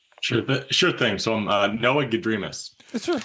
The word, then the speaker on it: Gedrimas: The problem is that he made MASS at the end of the pronouncer all in caps. So in my world, it would be Gedrimas. See what I'm saying? The emphasis on the.